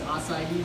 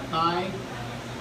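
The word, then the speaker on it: açaí: It's acai, not acai. It's cacao, not cacao.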